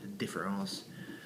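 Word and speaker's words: différance: would recommend for derida different ass um deferrals the accent is on the e of differ I would like to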